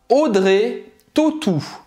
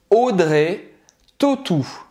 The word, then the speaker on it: Audrey Tautou: Audrey Tautou. Então, Audrey. Várias coisas, né? O AU do nome dela, você vai pronunciar como se fosse um O, certo? Um O com acento circunflexo, eu tô fazendo aqui.